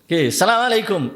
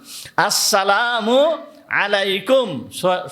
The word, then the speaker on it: আসসালামু আলাইকুম: সালামু আলাইকুম এর দ্বারা সালাম হবে না। আসসালামু আলাইকুম। সঠিকভাবে এইটা উচ্চারণ করতে হবে।